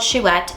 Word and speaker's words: Chouette: I did a vlog where I read this and I did not pronounce it correctly at first, but the book is called Chouette, and it follows a